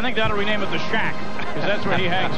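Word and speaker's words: Shaq: I think that'll rename it the Shack, because that's where he hangs out. How do you spell that? S-H-A-Q. Shack.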